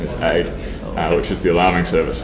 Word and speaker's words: Aodh: I'm told the correct pronunciation is AID, which is the alarming service for OpenStack. So it can. For some reason, I thought it was an acronym. No, it's an Irish name.